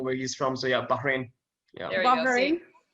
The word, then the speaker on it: Bahrain: Bahrain. Bahrain. Yeah, you know, I've lived there for a while. You know where he's from, so yeah, Bahrain.